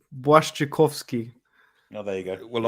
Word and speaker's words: Błaszczykowski: Even I can say Blazakowski. It's Błaszczykowski.